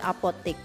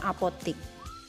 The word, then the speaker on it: apotek: Contohnya, Pak Amir membeli obat di apotek. Nah, jika mengacu pada KUEBI, kalimat tersebut termasuk efektif karena kata apotek sesuai dengan ejaan yang benar. Apotek ya, bukan apotik.